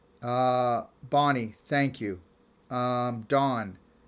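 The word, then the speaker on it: Dohne: bonnie thank you um dawn pronunciation of my name is good oh her name is thank you dawn a dawn's name is spelled d-o-h-n-e and it's dawn thank you see how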